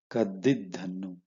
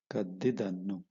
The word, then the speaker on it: ಕದ್ದಿದ್ದನ್ನು: So how do you pronounce this? Kaddidhannu. Right? Kaddidhannu. Kaddidannu. Okay, ದುಡ್ಡು ಕದ್ದಿದ್ದನ್ನು, correct.